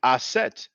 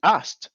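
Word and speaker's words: Aset: to pronounce that way that's why I and others pronounce the name asset uh this pronounce it asked I'm not going to say that it's wrong to pronounce it asked it's just smoother you know when you pronounce it acid you know so um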